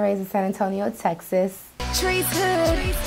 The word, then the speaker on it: Trice: This is the Sunday sit down, and this afternoon, across from me is sitting Trice. Correct? I pronounced that correctly?